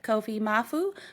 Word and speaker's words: Kofi Maafo: Today we are here with Kofi Maafo, who is the founder of Bloom Bar over in Accra, Ghana.